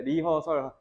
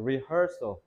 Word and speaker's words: rehearsal: 근데 발음할 때 리허설 정직하게 발음하시면 안 돼요. rehearsal. rehearsal이라고 해야 돼.